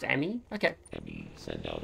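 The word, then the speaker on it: EMMI: enemy will be possible oh they pronounced emmy okay let me send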